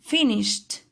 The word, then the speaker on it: finished: I must say finished. Short for have you finished? I must pronounce T at the end of finished.